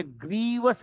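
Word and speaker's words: grievous: Greece hurt नहीं है यह ग्रीवस hurt ji आर आई वी ओ यू एस है क्य इसमें सस का कोई मतलब नहीं है से पहले आई आती है इसलिए आगे उसका उच्चारण नहीं होगा यह ग्रीवस हर्ट है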